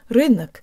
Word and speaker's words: рынок: to pronounce the word rhythmic meaning market or marketplace let's start with the second syllable the Oh sounds like a schwa and we need to